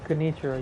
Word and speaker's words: Genichiro: Oh, Genichiro, yeah. Genichiro. I pronounce it honestly.